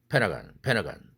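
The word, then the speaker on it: Pentagon: 그런데 모멘티 모음이니까 어떻게 발음해요? 펜타곤이라고 하니까 페나간 이렇게 발음합니다.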